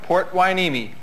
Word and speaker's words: Port Hueneme: Port Hueneme. Spell that.